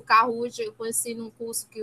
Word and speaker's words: Kahoot: Eu estou falando Kahoot, mas a pronúncia certa é Kahoot, né?